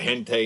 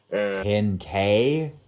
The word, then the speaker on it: hentai: I'm pretty sure there's a lot of hentai involving Kim Possible too. Hentei? Hentai. Never heard it pronounced hentei. Hentai. That's how you say it. That's how you say it in Bear.